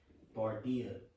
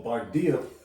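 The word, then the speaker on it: Bardiya: It's Bardaya. Popping up Britney Spears and shit. Or type in Smears. I got it. I got it. Let me get this real quick. So Bardia.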